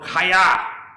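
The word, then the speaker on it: חיה: Another Hebrew word is pronounced Chay or Chaya, and it means to be alive, to live, living, to have life, and to sustain life. So this is word in Hebrew for life is Chaya or Hay.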